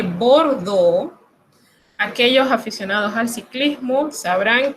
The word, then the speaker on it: Bordeaux: Cuando usted encuentre la combinación de letras E, A, U, esto se pronuncia O. Como la ciudad de Bordeaux, aquellos aficionados al ciclismo